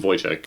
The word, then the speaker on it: Wojtek: I wonder why they named him Voyek.